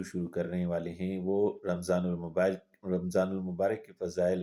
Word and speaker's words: رمضان: 9واں قمری مہینہ ہے۔ اس کا تلفظ یوں ہے رمضا، یعنی یہ را، میم اور ضاد تینوں مفتوح ہیں، جبکہ الف اس میں ساکن ہے، یعنی رمضان۔ یہ رمضا سے مشتق